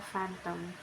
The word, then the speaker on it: phantom: PH, pronunciation F, example phantom, which means illusion or imaginary image.